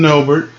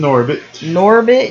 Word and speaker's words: Norbit: Girl from Norbert. Of Norbert. Now you have me saying it wrong. She's from Norbit.